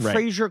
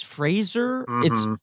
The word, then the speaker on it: Fraser: misspelt mispronounced phrase frasier because we're saying it like frasier crane but he's fraser that's one of those